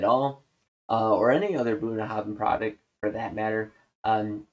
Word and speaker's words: Bunnahabhain: uh or any other Bunahav product for that matter. Um and it's pronounced Bahav like the BH makes a V sound. Bunahavin.